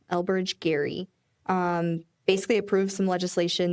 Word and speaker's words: Gerry: Elbridge um Gary Ge Ry but pronounced Gary. Elbridge Gary um basically approved some